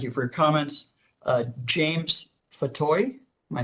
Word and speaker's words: Fatoye: It's just like Fatoy. Yeah. Fatoy. One step further. Why don't you just spell it for the record, and then I'll swear you, and then you can give me your comments.